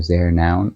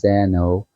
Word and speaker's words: Zeno: Zeno is Zeno, or has it here Zer noun? I think you should pronounce it as Zeno.